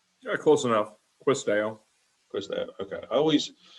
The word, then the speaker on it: Quis Deo: I am pronouncing that correctly, right? Yeah, close enough. Quis Deo.